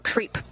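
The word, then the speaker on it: KREEP: weird component that we call creep and it's spelled K R E E P and stands for potassium, rare earth elements, and phosphor.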